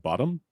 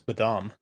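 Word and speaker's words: Bodom: children of bodm um this is not how you pronounce it you you would say children of bottom I always thought it was badam no it's children of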